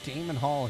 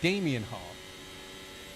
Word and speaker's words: Damien Hall: where's the Damian Damien Hall I've been saying it wrong for the last three weeks and I just realized my mistake I apologize sir for not saying your name correctly Damien Hall so five